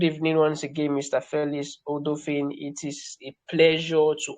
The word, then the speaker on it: Odofin: Is it Odofin or Odofin? Odofin. Odofin, okay, awesome. So thank you for correcting me there.